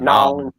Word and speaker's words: New Orleans: I'll tell you what, if you're ever down around New Orleans, and I said it right, Howard, Nolans. New New Orleans. If you're ever down around Nolans, look up Howard Petrie.